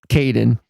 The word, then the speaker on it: Kadin: sure so thank you for thank you for pronouncing it Kaden but you're an organization that helps women entrepreneurs